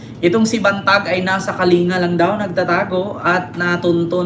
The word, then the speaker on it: Kalinga: Sa Kalinga ang aking bayan, andiyan siya sa Kalinga, pronounced as Kalinga.